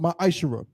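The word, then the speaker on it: מעשר: In Malachi chapter 3, verse 8 through 10, means tenth in the Hebrew, and is pronounced ma'ashara. 10% of every penny of any increase the Lord gives you, you give to the treasury department or teacher.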